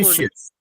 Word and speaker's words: nutritious: न्यूट्रिशियस। देखिए यहाँ पे तो ध्यान दीजिए, न्यूट्रिशियस, सीएस टी है लेकिन स प्रोनाउंस होता है न्यूट्रिशियस।